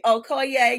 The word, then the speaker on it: Okoye: Okoye?